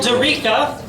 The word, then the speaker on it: Durica: Paul Durica, who actually I had to email today to find out how it's pronounced. He said like Eureka or paprika, so.